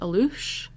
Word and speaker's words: alux: folklore this is called aloosh so it's spelled a-l-u-x but a lot of the websites were telling me it's pronounced aloosh so we'll go with